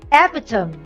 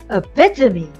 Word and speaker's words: epitome: here's the fourth word we often hear this word as epitome but the correct one is epitome here's the definition a